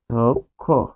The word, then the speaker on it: অধ্যক্ষ: এরপর আমরা দেখবো যে অধ্যক্ষ অনেক ইম্পর্টেন্ট একটি উচ্চারণ। অদক্ষ এখানে আমরা লিখছিলাম জফলা তারপর আরেকটা আছে ষিয়